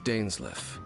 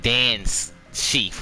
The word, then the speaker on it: Dainsleif: My name's Dainsleif. I suppose you have some business with me? Dainsliff. Okay. I was saying dance chief or something.